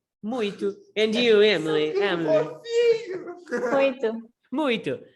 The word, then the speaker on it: muito: Muito. Muito. But everybody pronounces like this. Muito. Yeah, exists an Muito. N, a silent N inside of it.